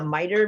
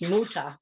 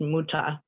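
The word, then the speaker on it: Mütter: may have heard of this next thing the miter museum or sorry it's pronounced muta museum i always want to say miter but it's muta um and there was a doctor thomas muta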